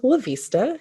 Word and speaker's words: La'Vista: um so with that i am lavista and if you remember asta lavista you will say my name right every single time i promise um and like